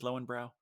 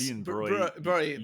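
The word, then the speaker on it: Löwenbräu: What was the way they pronounced Lowenbrow? Oh, I don't know. I can't It's even. something like Leuenbray or Yes. Leuenbräu. Brie. Yeah, Yeah. Well, This brow is not a thing. It's broy.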